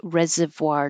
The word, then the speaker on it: reservoir: It's a French word. I'm not saying it French style. I'm saying it American style. Resoir. So, I'm making a V, but I'm also rounding my lips. voir reservoir dogs.